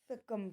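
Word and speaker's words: succumb: दूसरी मीनिंग हम यहाँ पे लेंगे सकम की. इसे हम सकम पढ़ते हैं, भले ही यू लगा है लेकिन आप थोड़ा सा प्रोनाउंसिएशन देख के करिएगा, ब्रिटिश के हिसाब से है सकम.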